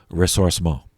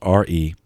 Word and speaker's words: ressourcement: Ressourcement, which means return to the sources. So it's spelled RESSOURCEMENT.